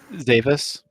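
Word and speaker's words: Xavis: Zavis. Davis, like with a Z. Okay. Just pretend the X is a Z. Yeah, yeah.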